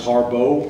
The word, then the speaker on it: Harbaugh: offensive coordinator uh Greg Harbaugh um which is also an interesting one it looks like Harbaugh but in their pronunciation guide it's it's it's it's listed out as Harbo which was surprising I'm